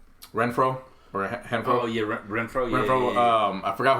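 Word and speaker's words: Renfrow: Oh yeah, Renfro. Yeah, Renfro. Yeah. I forgot who the other. How do you pronounce it?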